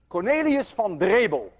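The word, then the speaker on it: Cornelis Drebbel: atmosphere for every 10 meter is one atmosphere cornelius von dreible and i know how to pronounce that name because i'm dutch he was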